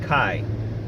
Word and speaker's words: chi: action of this is the Greek letter X which is pronounced Chi and the letter X